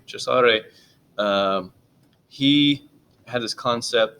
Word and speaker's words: Cesare: Okay, so and then Cesar or Cesare Lombroso, if you really want to talk about it and pronounce it correctly, Cesare, um, he had this